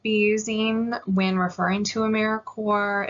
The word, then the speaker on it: AmeriCorps: s on the end it's also pronounced americorps like marine corps or core of the earth a service site is